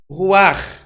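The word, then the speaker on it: רוח: né não sei relaxa o ch é pronunciado como dois erres tá você pronuncia o nome hebraico ou ch como se fosse dois r o arranhado o ar lá então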